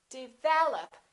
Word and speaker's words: develop: commonly confused words by a lot of people develop second syllable is stressed this is reduced this is